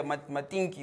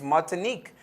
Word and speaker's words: Martinique: i got them right i was saying it's mating yeah matinki or whatever but it's martinique it's martinique and gwandalup yeah and